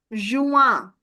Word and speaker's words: juin: But this IN, that gives you the sound of nasal sound. So that will become juin.